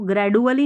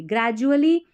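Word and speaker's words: gradually: लेकिन कंटिन्यू हम जारी रखते हैं ना कोई भी काम को तो ग्रेजुअली तो इसको ग्रेजडुअली नहीं पढ़ना। डी यू A double L वाई को पढ़ते हैं जली। ग्रेजुअली प्रोड्यूस्ड प्रोड्यूस्ड पैदा करती है।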